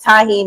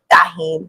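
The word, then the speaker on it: tahini: I say it tahine, and everybody says tahine.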